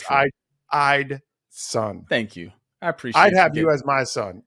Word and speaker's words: Eidson: Most people pronounce his name incorrectly as Edison. That is incorrect. So it's true. Eidson.